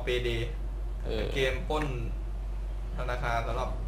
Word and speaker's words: PAYDAY: DAY 2 นะ ฮะ ต้อง อ่าน ว่า เปเด เว้ย ออ เปเด เออ เกม ปล้น ธนาคาร